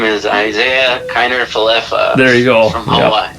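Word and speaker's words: Isaiah Kiner-Falefa: We were just figuring out how to pronounce his name when we traded him away. So his name is Isaiah Kiner Falefa.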